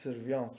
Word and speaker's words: surveillance: with efficient surveillance system it is pronounced surveillance because it is a french surveillance means observation efficient